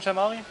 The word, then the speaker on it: Stemmari: Ist das richtig ausgesprochen, Stemmari? Jawohl, ist ja richtig ausgesprochen.